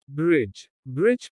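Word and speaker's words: bridge: D is silent before G. जब D G के पहले आता है तो D का उच्चारण नहीं होता। ब्रिज पुल।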